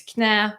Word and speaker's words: knä: Because in Nordic languages, they pronounce the K. So, for instance, it's knecht for night, it's knä for knee.